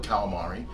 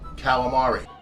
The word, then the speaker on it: calamari: Now, on the East Coast, we call it calamari, but there's a faction of, well, Italian Americans who might pronounce it differently.